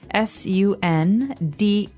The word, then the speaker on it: sundae: So, as you can see, the word is pronounced exactly like the day Sunday, but it has a different spelling in the end. Sundae, sundae.